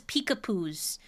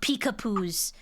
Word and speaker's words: Peekapoo: It's Pew, like Winnie the Pooh. I had a shit ton of Peekapoo. Wait, how do you spell it? Because I got a dog dude. P-E-E-K, like peek, and then poo, like P-O-O-H.